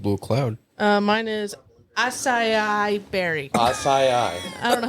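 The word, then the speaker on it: açaí: Acai berry. Yeah, you're still kind of struggling a bit. That's okay. You want to try again? Acai? That's better.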